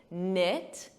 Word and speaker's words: knit: There's a silent K on the verb to knead, just like night, a night, silent K, knit, silent K, know, to know, sounds exactly the same as know.